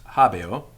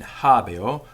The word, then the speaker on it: habeo: habeo i have habio now although this is spelt h-a-b-e-o we know from the roman grammarians themselves that the sound of this e in habio was closer to an i sound than an e sound this is an occasion where the sound is influenced by its environment so it's not habe or it's habio habio and in fact in